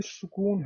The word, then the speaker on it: سکون: سکون، سکون ہوں، سکون، تو یہ سکون ہے، سین کے اوپر پیش ہے، سکون۔ ٹھیک، تو یہ اعراب